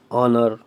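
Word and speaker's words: honour: Historical building, H silent हो गया, N historical buildings. ऑनर, एन ऑनर, ये आएगा, ठीक है।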